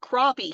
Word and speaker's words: crappie: you talk about catfish and brim and um crappie and it is pronounced crappie here uh and other game fish that you